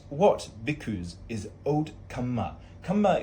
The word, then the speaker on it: kamma: Kamma is a Pali word for karma, just different pronunciation. If you hear me saying kamma, it's just karma, okay?